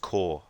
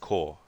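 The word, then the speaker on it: Kaur: Afro, it's pronounced Core, the last name. Oh, really? Okay, so you don't need to try and pronounce the A and the U in it, so it's just Core.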